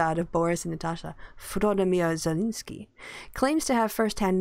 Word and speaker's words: Volodymyr: Pronounce that first name. No way. Not touching that with a 10-foot pole. Volodymyr. Come on. That's easy. Volodymyr.